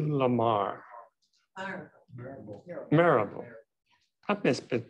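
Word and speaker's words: Mirabeau: Marable. I've been pronouncing that for 70 years. Say it again. Marable? Marable.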